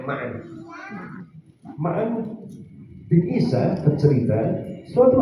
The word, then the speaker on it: Ma'an: Coba kita lihat, ada orang yang ngajak debat Imam Malik, Ma'an bin Isa, bacanya Ma'an.